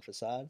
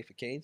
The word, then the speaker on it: Facade: Sometimes people say Facade, sometimes people say Facade, sometimes people say, man. It's depends on what country you're in. Yeah, depending what country, people do not know how to say it. Check me out, Pro Wrestling Tees. I think it's French.